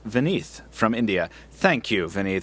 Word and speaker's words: Vineet: This last piece of listener mail is from Vineet, pronounced Vineeth, from India.